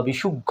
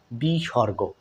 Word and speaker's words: বিসর্গ: ভাবে শিখে থাকি বন্ধুরা বিসর্গ বা বিশুখ এরকম শুনেছিলাম সঠিক উচ্চারণটা বন্ধুরা এভাবে পড়াবেন বাচ্চাদেরকে বিসর্গ বিসর্গ দেখুন বিসর্গ চিহ্নটা অনেকটা